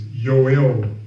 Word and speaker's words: Yoel: But they got the Hebrew names, the Sefer Bible, even the tabs will give you, here we go, Joel English, but it's Yoel.